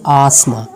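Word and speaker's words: asthma: Some random words having T silent, कुछ और भी वर्ड्स ऐसे हैं जिनमें टी साइलेंट हो, जैसे कि आसमा, रेपो, रेपो, आफन.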